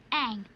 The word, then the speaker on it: Aang: Aang. That rhymes with Maang.